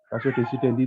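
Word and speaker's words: ratio decidendi: Rasio desidendi itu apa sih? Putusan hakimnya, Pak. Apa? Rasio desidendi itu apa? Putusan hakim nggak sih, Pak? Putusan hakim. Bentar, Pak. Ratio desidendi, tulisannya begitu. Bacanya rasio desidendi.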